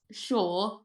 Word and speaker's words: Shaw: See, my last name is Shaw, spelled like seashore.